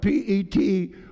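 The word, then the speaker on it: πέτρος: art peter the word peter in the greek is spelled p-e-t-r-o-s it is number four zero seven four and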